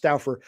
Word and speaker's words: Stouffer: It looks like Stouffer, but it was always pronounced Stouffer.